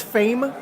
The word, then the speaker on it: The Faim: and pronounce it correctly I think it's fame yeah yes although when I first got the press release I was sure it's French for fam hanger hung up that